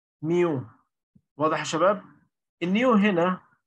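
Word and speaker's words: μ: كاينماتيك فيسكوستي هنا بنسميها، لو هنيجي ننطق ديت اسمها كده نيو، وهنا ديت ننطقها نيو، يعني النطق بالميم وهنا بالنون نيو، وهنا النطق ميو.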